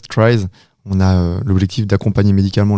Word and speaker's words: Tries: Du coup, TRIES, si on prononce à la française, TRIES, on a l'objectif d'accompagner médicalement le sportif en déplacement.